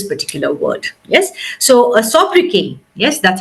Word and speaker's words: sobriquet: All right, so the correct pronunciation, the appropriate pronunciation of this word is sobriquet. Okay, we do not pronounce the T.